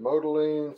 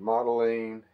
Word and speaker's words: Modeline: of the moving company some people pronounce it modoline some pronounce it modeline any case the company